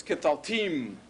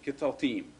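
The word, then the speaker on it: קְטַלְתִּים: i warned you that the accent is going to move over toward the suffix so instead of catal t it's ketal team this is one syllable at the end ketultim if this is the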